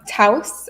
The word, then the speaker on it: Taos: Taos, is that how you pronounce it?